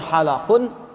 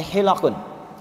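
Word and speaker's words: حِلَق: Rasulullah Sallallahu Alaihi ikri Perhatikan cara bacanya bukan halaqu tapi hilqu ya kalau halaq itu punya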